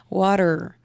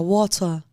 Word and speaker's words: water: O T não vira R, né? Porque water, em inglês, vira water. Em inglês da Inglaterra. Isso rápido te confunde.